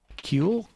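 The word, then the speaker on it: Kühl: it's sort of insane kill coats am i pronouncing that right kewl that's the one i have um has thousands of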